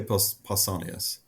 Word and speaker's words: Pausanias: I say Pausanias, like Paul.